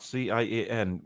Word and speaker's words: Cian: How do you pronounce that? C-I-A-N. Shane?